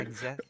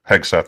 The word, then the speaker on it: Hegseth: Defense Secretary Pete Hegseth. Is that how I'm supposed to pronounce it? Yeah. Hegseth? That's it. Yes. Hegseth, that's yes.